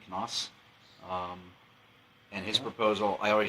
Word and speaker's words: Knaus: How do you pronounce his name? Knaus.